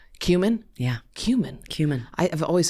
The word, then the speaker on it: Kumin: Cumin, like the spice. Cumin?